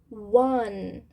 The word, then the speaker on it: one: One. One. Então, ele tem uma sílaba só e a gente vai fazer o som do N no final, tá? One. Sem esse E, ok?